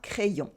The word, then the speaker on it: crayon: Un crayon, you have the nasal sound on at the end. Un crayon. It is not crayon, but crayon. And if you want to really decompose it, you can write it C-R-A-I and then I-O-N, crayon. And you have the Y right here. The Y in French is like having two I.